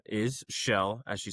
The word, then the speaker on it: Kjell: My name is Shell as you said which is it's spelled a little interesting.